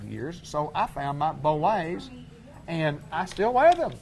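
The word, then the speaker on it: Bollé: Bolay. You said it right. Bolay.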